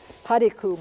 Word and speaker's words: Hariku: Hariku, black. Ha, and that syllable is accented. De. Ku. And there's a little sound on the end called a glottal stop.